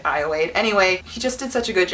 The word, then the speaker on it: Ayoade: It was directed by Richard Ayoade. I'm pretty sure it's pronounced that way. It looks like Ayoade, but I've heard it Ayoade.